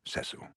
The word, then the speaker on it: Cecil: look Dr pritchfield Cecil if I may it's pronounced cesil damn it but again how would you know